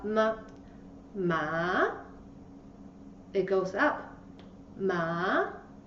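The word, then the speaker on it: 妈: Ma. Ma. You can move the hand like what I do. The first tone, ma. Ma.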